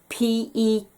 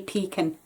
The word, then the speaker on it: pecan: you pronounce this word p-e-c-a-n i say pecan i know in america there is very um depending on where you are they say it very differently but i say pekon and last piece of